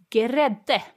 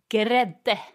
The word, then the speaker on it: grädde: So if you remember, we always pronounce the E's on the end in Swedish. Yep. So grädde. Grädde. It almost sounds like there's a vowel between the G and the R.